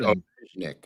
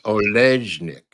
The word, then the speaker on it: Olejnik: I pronounce it Olejnik. That's how I pronounce her name always. Olejnik. Olejnik.